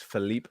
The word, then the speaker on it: Philippe: you butchered it philippe it's philippe flop yeah philippe it's not felipe yeah like flip flop whatever philippe flop i